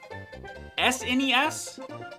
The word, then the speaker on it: SNES: off my lawn but I can't call it SNES I have to call